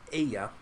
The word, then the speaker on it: Ai: Battle of of a or uh Aya it depends uh how that's translated it's it's spelled AI um what happens here